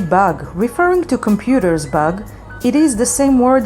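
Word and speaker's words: באג: And if you want to say bug, referring to computer's bug, it is the same word in Hebrew, bug, and it is spelled with Bet, Aleph, and Gimel.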